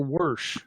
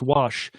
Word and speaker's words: wash: okay so we're at wash or worsh whoosh i can't say it wrong it's wash that's the one we're looking